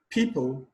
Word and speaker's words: people: Question 42, center, people, setting, concern. Center, the stress is placed on the first syllable. People, the stress is placed on the first syllable.